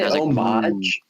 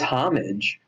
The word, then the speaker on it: homage: orange and the blue say omage omage yeah it's homage it's there's two different ways to pronounce that I'm pretty sure so you have pay homage you do have to pay homage but I think that you you could pronounce it two ways maybe okay I'm thinking of